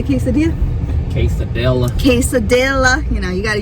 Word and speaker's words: quesadilla: I'm craving some tacos, yeah, and a, how do you say quesadilla?